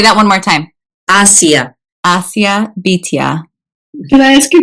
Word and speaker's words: Asiya: And I would love to hear it pronounced well. Bityah. Bityah. Thank you for this lovely conversation about And Bityah. Asiya. And Asiya. Oh, yes. Thank you. And say that one more time. Asiya. Asiya Bityah.